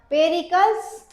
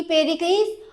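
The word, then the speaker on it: Pericles: पेरिकल्स और प्रिंस of tyre. कई लोग इसको पेरलीज़ भी पढ़ते हैं। तो अपना-अपना प्रोनाउंसिएशन है।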